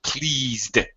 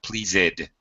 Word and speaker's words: pleased: accepted Steven careful with please do not please it but pleased ok please no extra syllable no extra vowel SAP ah there ok